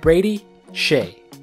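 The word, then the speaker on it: Brady Skjei: The SK here makes an SH sound. We have Brady Shea.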